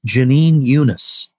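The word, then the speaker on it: Jenin Younes: You never think of that it would be pronounced this way, but it's Jeanine Yunus is how okay.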